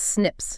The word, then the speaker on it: SNP: It's pronounced snips.